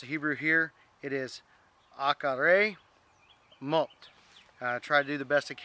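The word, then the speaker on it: אחרי מות: So try to pronounce the Hebrew here. It is Acharei mot.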